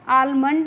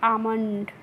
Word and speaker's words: almond: Next है हमारा word ALMOND, तो अब देखिए इसको हम आलमंड नहीं पढ़ते हैं, इसको हम पढ़ते हैं आमंड। यहाँ पे जो एल है वो क्या होती है? साइलेंट होती है, यानी कि हम एल को नहीं पढ़ते हैं।